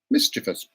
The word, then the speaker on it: mischievous: Mischievous. Mischievous. Not mischievous. It's spelled. Yeah. No, there are no additional letters. It's just mischievous. Okay. You're adding letters to it.